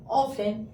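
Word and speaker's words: often: ऑफेन।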